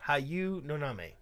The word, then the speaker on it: Hayu Noname: That's how that's pronounced. Hayu Noname.